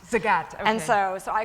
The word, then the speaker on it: Zagat: The people, they pronounce their last name Zagat. Zagat, okay.